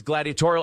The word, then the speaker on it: gladiatorial: It's gladiatorial as the adjective form of gladiator. It is pronounced gladiatori-al, very cool, remarkable word.